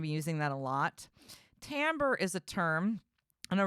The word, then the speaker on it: timbre: second language and so that word sounds to you like I'm saying t-a-m-b-o-r or something like that but I am not it's spelled t-a-m I'm sorry it's spelled t-i-m-b-r-e it almost looks like